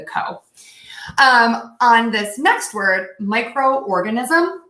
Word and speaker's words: microorganism: on this next word microorganism it's almost like you're just splitting this in two parts micro organism micro organism